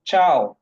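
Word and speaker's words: ciao: হবে গুড চাও আর দুইটা বানান দুইটার উচ্চারণে চাও সি আই এ ও চাও বা টি এস সি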